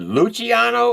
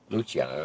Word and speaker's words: Luciano: i a n o now is it luano or Luciano no it's Luciano luchano I've been pronouncing it wrong no you good most